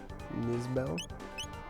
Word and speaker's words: Nizbel: But here we have Nizbel.